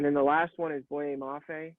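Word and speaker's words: Boye Mafe: the last one is boy mafe i believe is how it's said from minnesota he's listed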